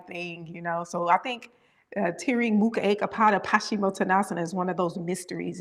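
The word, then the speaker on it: Tiryang Mukha Eka Pada Paschimottanasana: Tiriying Mukha Ekapada Paschimottanasana?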